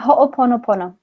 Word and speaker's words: Ho'oponopono: know a little bit about is it the Ho'oponopono? How do you say that practice? What is it called? If you could say that again. Yeah, Ho'oponopono.